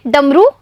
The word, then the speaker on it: डमरू: तो बच्चों इन दोनों का उच्चारण देखिए डमरू या डमरू। तो बच्चों बड़े ऊ की मात्रा वाला शब्द सही है, यानी ये है ड म, र में बड़े ऊ की मात्रा रू डमरू।